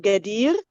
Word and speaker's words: Gadir: Even there's Gha, and to make it in English easier, it's Ga, but they don't say it Gadir because there's I there instead of double E, so they say Gader.